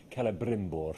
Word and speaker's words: Celebrimbor: Celebrimbor. Oh. To give it the proper full pronunciation, Celebrimbor.